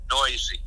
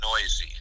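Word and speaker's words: Neuse: she started out actually she pronounces it noisy no s noisy she's wonderful well thank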